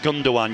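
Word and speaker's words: Gündoğan: Yeah, I think it's like Gundogan. You don't say the G.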